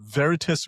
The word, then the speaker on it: Veritis: He's the CEO of uh Veritus Group. Did I pronounce that correctly Vic?